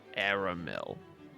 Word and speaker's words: Aramil: His name's Aramel. Aramil. Heh, kind of rhymes with caramel.